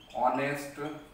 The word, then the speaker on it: honest: When it is silent. Now, example. An honest man.